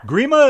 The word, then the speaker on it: Grima: in Canada we call agreement all right prima Grima it is how's Billy Grima believe we must feel great relaxing uh just